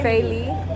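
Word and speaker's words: Felie: Feli. Feli. Yeah, Feli. How you spell it?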